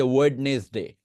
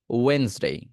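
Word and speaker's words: Wednesday: বলা দরকার নেই যে ওয়েডনেসডে, আমরা বলতাম আগে ওয়েডনেসডে, বাট না, ওয়েন্সডে।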